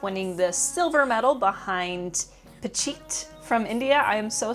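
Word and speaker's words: Phichit: the silver medal behind Pachit from India. I am so sorry I was saying his name wrong. I was adding an L and that's where I was getting confused.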